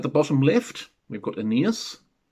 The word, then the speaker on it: Aeneas: At the bottom left, we've got Aeneas, pronounced Aeneas in the Greek of the time.